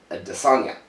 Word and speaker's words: Adesanya: His last name is actually supposed to be pronounced Adesanya. Adesanya, yeah.